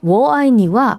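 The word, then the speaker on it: 我爱你: 이게 중국어로 사랑해를 뜻하는 워아이니와 발음이 비슷해요.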